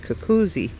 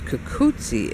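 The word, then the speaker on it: cucuzza: 2 Z's in Italian is always spelled like TZ in English. So like pizza or mozzarella. So I said, oh, it's kukutsi.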